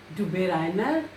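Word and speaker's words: Döbereiner: It is pronounced as Dubé Reiner. So this is the correct pronunciation of this German name, Dubé Reiner.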